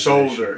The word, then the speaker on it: solder: And this word, solder, it has an L in it, doesn't it? Yes. In American it's silent. Yes. Because we pronounce the L because we're a civilized Solder, nation.